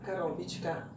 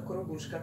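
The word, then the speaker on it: Коробушка: Ciao, oggi vi faccio vedere la Karobička, che in realtà andrebbe pronunciata Korobushka, come ha detto Oksana, la nostra amica violinista.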